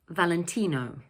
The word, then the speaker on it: Valentino: In English, we pronounce it Valentino. So the word is made up of 4 syllables and the third one is stressed, Valentino, Valentino.